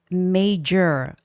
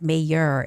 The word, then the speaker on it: major: And the word major. I had a student reading this as mayor. It's not mayor, it's major, right?